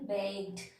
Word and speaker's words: baked: So I am telling baked. I am not pronouncing letter E.